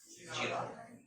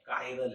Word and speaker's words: chiral: तो गुरुजी क्या नाम समझ लेता, CHIRAL का, चीराल। तो हो सकता है कि आपके कॉलेज के गुरुजी इसे चीराल चीराल चीराल करे, आपने कर लेना, पर इसका सही उच्चारण चीराल नहीं है, काइरल है।